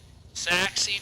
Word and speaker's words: Scurry: Is that pronounced Saxy, Texas? Saxy, Texas. Okay, alright. Saxy, Texas.